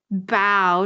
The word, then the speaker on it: bough: i we said well how do you spell bo and it's spelled b-o-u-g-h so bow technically but i'm sure like